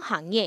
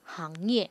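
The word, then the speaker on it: 行业: 자, 업종 行业 라고 하는데 조심할 게 요 글자의 발음이 돼요? 안 돼요? 싱부싱 할 때 싱이 아니고 항이라는 거죠.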